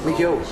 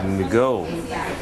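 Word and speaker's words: McGeough: McGill. McGill. Yes. Like M-C-G-I-L-L? No, G-E-O-U-G-H. Whoa! M-C-G-E-O-U-G-H. Yeah. McGill.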